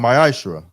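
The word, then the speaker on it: מעשר: Means tenth in Hebrew and is pronounced ma'ashra.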